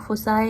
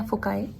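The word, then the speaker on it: foci: तो किसी भी लेंस के दो फोकस होते हैं, और प्लूरल वर्ड हम लोग फोसाए या फोकाए, जैसे भी आप प्रोनाउंसिएशन करना चाहो ऐसे कर सकते हैं।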